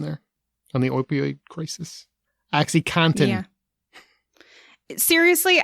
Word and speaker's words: OxyContin: crisis oxycontin yeah seriously i cannot be the only person who thought it was cotton like the fabric most people say it like that so yeah they do but i was like oh it's content makes sense but anyway it's it's